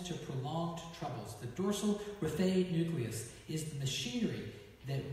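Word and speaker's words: raphe: Raphae?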